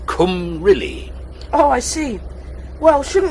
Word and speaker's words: Cymru: It's pronounced Cymru.